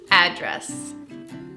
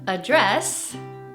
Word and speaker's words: address: Primero es address. Y con eso es un poco diferente porque hay dos pronunciaciones. Address es el verbo y address es el sustantivo.